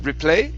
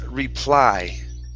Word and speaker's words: reply: Instead of replay, it's reply. Okay. In reply to the man. Okay. I mistake with the other word. Reply. One thing is... So how is that one? This is a long I sound. So this is reply. The other word, and I'll put this in the Google chat. This is reply, long I.